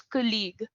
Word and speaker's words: colleague: But this will be pronounced as colleague. Colleague. छोटा का. Just make it colleague.